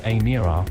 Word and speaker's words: Emira: The Emira, pronounced Emira, will eventually be priced